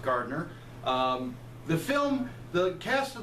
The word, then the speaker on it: Gardner: I believe I'm sorry i believe it's pronounced Gartner the film the cast